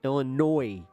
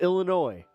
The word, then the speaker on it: Illinois: Or you could just say it's like pronouncing Illinois with the S. How dare you? There's one thing that y'all can take away from this is that you don't do that. The S is silent.